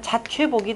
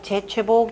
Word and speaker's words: 자최복: 그러니까 원칙적으로는 자최복이 돼야 돼요. 자최복이 되는데 사람들이 보통 재최복, 재채복 요 글자로 많이 쓰는데요.